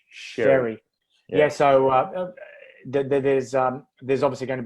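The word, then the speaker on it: Xerri: How's it pronounced? Zeri. No, Sherry or Cherry? Sherry Bronson. Sherry.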